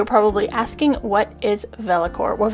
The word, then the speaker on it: Vellichor: some of you are probably asking what is velocor well velacor is spelled v-e-l-l-i-c-h-o-r and it is the pensive Nostalgia